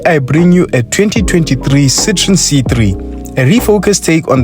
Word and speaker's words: Citroën: argue about pronunciation of whether this car is a Citroen a Citron or a Citron the correct way to say it according to multiple sources is Citroen but for the purpose